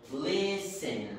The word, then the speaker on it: listen: listen get the tea it's silent we don't pronounce the T it more the silent so listen repeat watch watch the